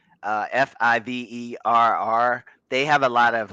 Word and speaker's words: Fiverr: if you know of uh i know i'm mispronouncing this it's favir uh f-i-v-e-r-r they have a lot of like fiverr yeah